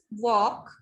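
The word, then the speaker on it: walk: We'll speak it like this: वॉक, ठीक है, टॉक, फोक, balm.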